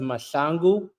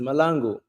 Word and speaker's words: Mahlangu: In my country, it's pronounced Mahlangu in South Africa, but in America, it's pronounced Malangu.